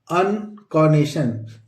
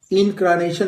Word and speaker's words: incarnation: और इसी तरह अगला वर्ड है दोस्तों INCARNATION, अनकॉनेशन। इसमें आर साइलेंट होता है दोस्तों, इसको इन नहीं पढ़ेंगे। अनकॉनेशन, अनकॉनेशन। क्या पढ़ेंगे दोस्तों? अनकॉनेशन। इनक्रानेशन नहीं पढ़ेंगे, अनकॉनेशन। सही प्रोनाउंसिएशन इसका है दोस्तों अनकॉनेशन।